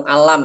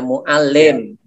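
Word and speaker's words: معلم: Minah Mandala kita dulu bukan mualam ya bacanya Mualim Rain game lem mint mualaf bina mental lebih bletuk telah bisa hukum alat sebentar kalau mau alam itu artinya yang diajar ya kalau Mualim itu yang mengajar jadi beda karo.kab beda arti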